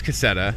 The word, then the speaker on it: Cassetta: So Luke Cassetta, apparently I was saying his name wrong. It doesn't look like it would be Cassetta, but it's Cassetta.